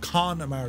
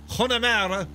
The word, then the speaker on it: Connemara: There's an O in Connemara. No, it's pronounced Connemara. I know this on good authority. Connemara. It's not pronounced Connemara. It's Connemara.